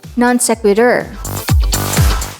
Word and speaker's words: non sequitur: an adjective that means swimming or floating the pronunciation is so that's natant non-sequitur something said or written that isn't related to